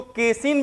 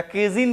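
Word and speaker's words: casein: इसको क्या कहते हैं, इसको केसिन भी कहते हैं या केजिन भी इसको कहते हैं, CAESIN। प्रोनाउंसिएशन दोनों सही है, इसको केसिन भी कह सकते हैं, केजिन भी कह सकते हैं, दोनों चलता है, ठीक है।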